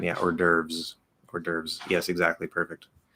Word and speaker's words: hors d'oeuvre: or you could say the way my grandma says it which is um ordy overs um which i think is probably closer to the french i don't really know how it's supposed to be pronounced in french but she says already overs um yeah we say hors d'oeuvre because from an amer